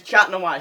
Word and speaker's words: Chat Noir: Chat Noir. Yeah. So, yeah. There's gonna be a lot of puns related to that. His name is Chat Noir, spelled C-H-A-T. Okay, chat. It's chat. It's French for cat.